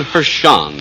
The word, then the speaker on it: Hershen: Hershen. Is that the correct pronunciation, Mr. Hershen? That's correct.